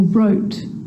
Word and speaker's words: wrote: The letter W is silent when it's at the start of a word before the letter R, like wrong and wrist, and right or wrote. It's also not pronounced in these common words: who, whoever, whole, to, sword, and answer.